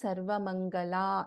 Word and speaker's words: Sarvamangala: Before that, there were questions regarding this, the pronunciation of Sarvamangala, whether it is la or la. So we pronounce this as Sarvamangala, la, yara, la itself.